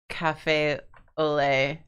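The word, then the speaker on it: café au lait: hidden sounds um I only realized how to pronounce um Cafe Olay last year and I'm not confident in that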